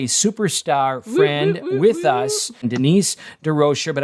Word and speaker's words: DeRocher: And tonight we've got a superstar friend with us, Denise DeRocher, but I like to pronounce it in the French way, DeRocher, but we'll stick with Denise DeRocher.